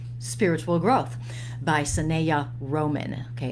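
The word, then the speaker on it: Sanaya: this book yet is called spiritual growth by sinea roman okay it's spelled sun neos s-a-n-a-y-a roman excellent book excellent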